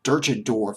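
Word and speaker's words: Deutschendorf: Henry John duton dwarf dut and dwarf there are several pronunciations of this word durchin dwarf is another pronunciation I think but I'll just use dut and dwarf and uh when John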